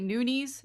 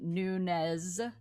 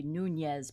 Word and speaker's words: Nunes: pronunciation for your name it's actually nunes but they've decided to call her nunes okay and if you were doing in spanish it would be nunez but she's not she's brazilian anyways long